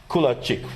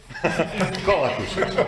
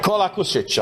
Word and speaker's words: Kolakušić: And another colleague from Croatia, Kulačić, right? Do I pronounce it correct? Right now, not. Kolakušić. Kolakušić.